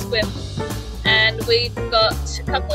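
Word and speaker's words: Sequim: heading from seattle um to a place called swim which is spelled sequin and it's pronounced swim and we've got a couple of days up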